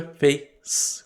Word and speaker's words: face: E rosto é face, com som de S. Face. Como em Facebook.